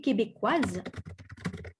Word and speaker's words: québécoise: And pronounce the Z sound at the end.